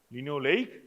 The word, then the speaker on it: linoleic: To remember the spelling, this way we pronounce it: linoleic, linolenic.